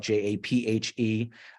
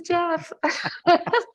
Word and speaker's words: Japhe: she's like, oh, Jaff. I thought it was Jeff. No, we're even now. So we have the silent E problem down. It is, the silent E strikes again.